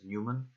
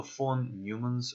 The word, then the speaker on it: von Neumann: two different architectures phone I think this guy's name is pronounced Neumann so phone newman's architecture and Harvard architectures